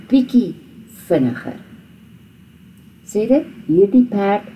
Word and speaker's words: bietjie: So, hy is 'n bietjie honger. Now this is the TJIE is not pronounced with a TJ at all. It's pronounced with a KIE.